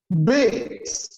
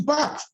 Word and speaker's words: bath: I know one of the invited girls pronounced the word bath as bait. Oh, this is, okay, because the word BATH is not pronounced as bait, it's bath.